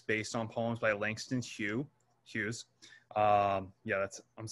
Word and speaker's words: Hughes: And again, he makes it part of a three part song series based on poems by Langston Hughes. That's how you pronounce his last name, Langston Hughes.